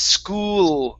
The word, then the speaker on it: school: uh school okay so give me an l there at the end instead of school it's school school school there you go that's the l sound okay very nice